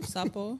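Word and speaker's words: sapo: pronounce what sapple Sappo s a p o Sappo okay which is it's a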